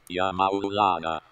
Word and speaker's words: Ya Maulana: YA MAULANA. YA MAULANA. That's how we have to pronounce.